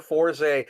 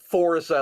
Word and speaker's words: Forze: episodes of Kamen Rider Forze, except he, for some reason, couldn't parse how to pronounce it despite watching the fucking show. So he pronounced it Forza, like Forza Motorsports.